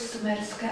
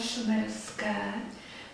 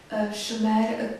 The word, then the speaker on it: Šumer: té náhorní plošině mezopotámské, nikoli v sumerské, ale šumerské. Šumer to měli jako výslovnost, přímo sumeřanéky se vyslovovali tedy jako šumeřané, svoji zemi nazývali Šumer.